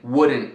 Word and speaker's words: wouldn't: E encurtado formam com apóstrofo couldn't, wouldn't, shouldn't. E notem que eu não estou pronunciando o T no fim, né?